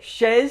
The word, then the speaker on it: chez: note on pronunciation in the ch is pronounced like the english sh sound such a shower uh